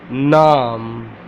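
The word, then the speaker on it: نام: I'm going to teach you name how to pronounce name in urdu let's get started um how to say in order nom nom nom okay there are three alphabets in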